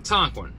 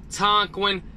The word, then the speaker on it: Tonquin: to Google you're going to type in t-o-n-q-u-i-n Tonkin we're gonna go right there as you guys can see it says Tonkin driver sign up right there click sign up